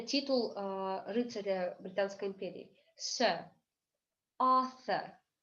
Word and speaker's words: Arthur: Arthur. То есть мы звук Р не произносим.